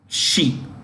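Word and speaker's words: Xi: space she x i she x i is pronounced she so Lee she okay and the second guy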